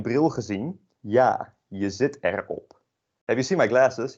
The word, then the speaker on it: erop: with the pronunciation, because this you say erop, but following the common pronunciation rules, it's a vowel, consonant vowel. You would maybe say, oh, this is erop, but it is not, alas. It's just erop.